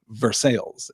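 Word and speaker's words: Versailles: it was I'll say Versa Kentucky which is pronounced verses yes there's a Michigan Town says Kate spelled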